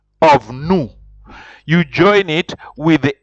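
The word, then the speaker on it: nous: and like I said when you see new it is n o u s then the verb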